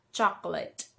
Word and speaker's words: chocolate: It's chocolate. Chocolate. Chocolate. Hindi siya chocolate. Hindi daw late. Lit. Chocolate.